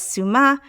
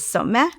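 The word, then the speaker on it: סומא: We often pronounce this as suma. It's actually properly pronounced as someh.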